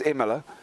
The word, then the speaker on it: Imola: for today already in Imola. Yeah, we could do as well. And I do love the way you say it, but it is Imola. Is it Imola? My bad. Imola, yeah, Imola. So there we go.